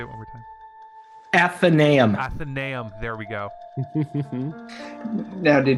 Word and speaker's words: Athenaeum: I can't pronounce it. I'm sorry. You say it one more time. Athenaeum.